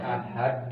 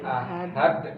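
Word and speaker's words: أحد: Sementara dal di dalam pengucapan bahasa Arab dia bukan ke langit-langit tuh, dia kemari ke pangkal gigi seri depan bagian atas. Qul huwallahu ahad, bukan ahad ke atas tuh, bukan, tapi ahad dorong kembali, ahad.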